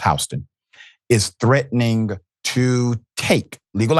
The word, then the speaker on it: Houston: out of H County I know it spell Houston is pronounced hon is threatening to take